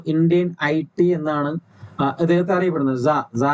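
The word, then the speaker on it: czar: ഐടി എന്നാണ് ഇദ്ദേഹത്തെ അറിയപ്പെടുന്നത് സ എന്ന് പറഞ്ഞു കഴിഞ്ഞാൽ റഷ്യ ഒരു റഷ്യൻ വേർഡ് ആണ് എമ്പറർ എന്നും റൂളർ എന്നൊക്കെ അർത്ഥമുള്ള ഒരു ഇതിന്റെ ഉച്ചാരണമാണ് സി സെഡ് എ ആറിന്റെ ഉച്ചാരണമാണ് പ്രൊനൗൺസിയേഷൻ ആണ് സ എന്ന് പറയുന്നത് സി സെഡ് എ ആർ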